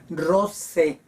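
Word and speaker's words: rosae: los morfemas el genitivo es Rose con ae se pronuncia como e Rose y el dativo también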